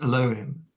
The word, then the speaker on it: Elohim: Now, Atum the Absolute, who is both Tat and Nun, was named Elohim, nowadays pronounced Elohim, by the Hebrews, which is rendered into English as God.